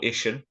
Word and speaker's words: Iestyn: Or Iestyn, as it's pronounced.